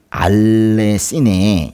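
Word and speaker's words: ἀληθινή: 그 다음에 알레시네. 이게 니은 발음이에요.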